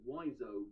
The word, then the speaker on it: Wiseau: Incidentally, Sestero recorded his own audiobook, and it seems to me that he's pronouncing his friend's name as Wiseau, while the internet is insisting it's pronounced Wiseau, but honestly, I'm gonna